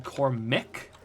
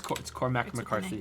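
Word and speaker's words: Cormac McCarthy: it right I was I was thinking coric but it's not it's cor mcarthy I was thinking corch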